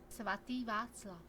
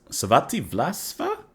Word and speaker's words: Svatý Václav: Svatý Václav. Oh, excuse me? Svatý Václav. Svatý Václav. Svatý Václav. Svatý Vlasva?